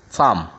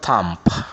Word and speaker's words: thumb: good not limp here thumb not thump yeah thumb crumb yeah not cramp